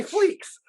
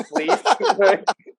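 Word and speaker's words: Fleecs: Like, it's so hard when we do interviews because I'm like the guy who's like, oh yeah, Tony Fleeks. And his name is Fleece.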